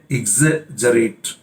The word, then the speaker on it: exaggerate: Look at its pronunciation, not exaggerate, exaggerate, और ये verb है।